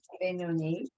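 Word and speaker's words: Beinoni: Benoni.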